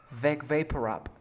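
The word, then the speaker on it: Vicks VapoRub: Pero la K, no escucho la K, la K. Vec. Vec. Ajá. Vec. Vapo. Vapo. Rap. Rap. Vec vapor rap. Vapor rap. Oh, great. Pero dile con el Vec.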